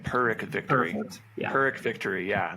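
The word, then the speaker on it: Pyrrhic: Um but perk victory, that's how you say it. Perk victory. Peric victory.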